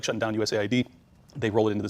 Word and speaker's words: USAID: The USAID thing, I have to force myself to say it properly because a lot of people say it as aid, and then it makes